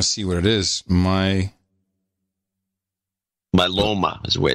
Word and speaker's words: myeloma: Myeloma is the way it's pronounced. Myeloma, is that how you pronounce it?